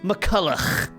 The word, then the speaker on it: McCullough: I'm used to it though, much like how I'm used to so many years of hearing people mispronounce my name. Oh yeah, right, it's McCullough. Besides, berating or correcting my